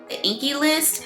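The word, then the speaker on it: The INKEY List: They're both moisturizers and they're both by the I believe it's pronounced the Inky the Inky List.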